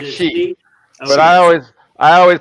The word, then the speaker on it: Xi: pronunciations of his name is it C like they make me question it's C right I thought it was XI jingping XI Jing yeah it's like she but I always I